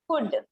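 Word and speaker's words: could: जब ये गलती कोई करता है बच्चों, एल साइलेंट की जगह पे एल को वायलेंट कर देता है, तो बड़ा इरिटेटिंग साउंड करता है। जैसे देखो ये है ना, कुड, CULD, कुड।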